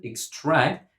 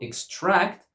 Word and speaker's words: extract: As a verb, we pronounce it extract and we put the stress on the second syllable.